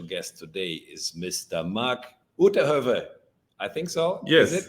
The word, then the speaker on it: Uitterhoeve: Marc Uitterhoeve.